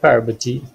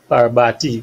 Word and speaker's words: Parvati: So a beautiful name like Parvati might be pronounced as Parbati by a non-Indian person, you know, and so we don't.